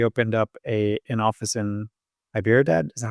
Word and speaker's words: Hyderabad: For example, we opened up an office in Hyderabad. Is that how you pronounce it?